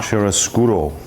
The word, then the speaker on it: chiaroscuro: Chiaroscuro. If I pronounced that correctly?